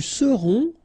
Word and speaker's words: serons: Nous serons, so final S not pronounced, then O-N, on, seront.